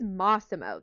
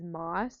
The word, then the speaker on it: Massimo: It is Massimo, though, because at one point I was reading an article and she referred to him as Moss, like as in the plant.